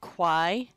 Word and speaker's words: quae: And the AI is a singular sound, I. Sorry, I said AI. I meant to say AE because it sounds like I.